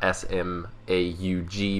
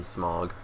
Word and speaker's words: Smaug: I think it might be pronounced differently than the S-M-A-U-G version in The Habit. But regardless, I've always called him Smaug. Smaug. It might be Smaug. Because the AU makes an ow sound, as opposed to that's the thing